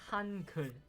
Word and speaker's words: Hangul: It's more like a relaxed U. Okay. It's Hankul.